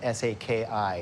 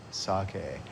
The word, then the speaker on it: sake: doesn't exist everything say s a Ki it's not it's actually sake and I tell people just kind of slur your words sake so the more you drink the better you are pronouncing sake the word actually means